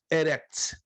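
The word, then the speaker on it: ארץ: E a pronúncia eu acabei de dar, ó. Eretz. Eretz. Eretz. Se você quiser escrever a transliteração, escreva E-R-E-T-Z.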